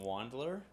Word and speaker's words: Wandler: How do you pronounce your last name? Wandler?